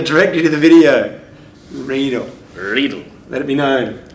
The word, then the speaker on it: Riedel: So it Riedel rhymes on needle.